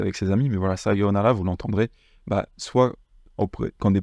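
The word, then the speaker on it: さようなら: Maintenant, pour dire au revoir, ça va être sayonara. Sayonara. Donc, c'est bien yo avec un long o, comme on avait vu dans Ohayou, c'est la même chose.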